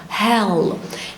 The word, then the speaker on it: hell: الألف في الآخر dark L فبقول ايه؟ hell.